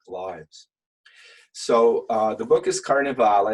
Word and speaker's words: Carnevale: So the book is Carnevale. It's pronounced Carnevale. That's the Italian pronunciation, which means carnival.